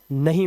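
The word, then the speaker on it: know: देखिए एन से पहले कभी भी के आएगा साइलेंट रहता है। जैसे यहां पर एन से पहले के है तो इसे पढ़ते हैं नो। इसे कनो नहीं पढ़ना है।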